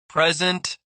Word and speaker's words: present: Present, noun versus present, verb. Contest, noun versus contest, verb.